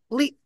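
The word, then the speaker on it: لِ: Li maknanya adalah bagi atau milik. Jadi kalau lu itu sudah pasti. Jadi yang menjadi harf itu adalah la atau li yang ada di awal kalimah dan memiliki makna bagi atau milik. Tidak dibaca lu dan tidak pula ada di akhir kalimah.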